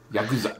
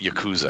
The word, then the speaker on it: Yakuza: it's yeah cuz i Yakuza the emphasis is on the first syllable your fascist okay usually I've heard tomato tomahto and you're Canadian so okay a lot a lot of Americans pronounce it Yakuza Yakuza yeah I've always